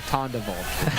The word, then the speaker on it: Tondevold: 3-syllable name there, Tondevold.